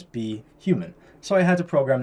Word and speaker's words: BHuman: pronunciations so for example be human normally You' pronounce it if you just read it phonetically boomman right but we want to pronounce it as be human so I had to